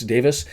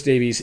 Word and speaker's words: Davies: Their managed gaffer, Chris Davis, Welsh pronunciation versus English or North American pronunciation. Chris Davies, this is his first head coach gig.